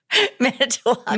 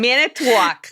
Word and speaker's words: Manitowoc: Manitowoc. Manitowoc. Wisconsin. Yes, like that. Yeah, Manitowoc.